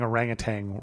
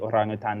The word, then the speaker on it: orangutan: Yeah, because it's orang, which means person. And then it's kind of truncated. Hutan means forest. Forest person. So it's like person of the forest.